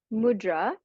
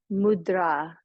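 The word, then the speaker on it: मुद्रा: and you'll notice that mudra has a line over top of the a so that's intentional because to properly pronounce mudra in Sanskrit it's mudra with a long mudra instead of mudra but it's just easier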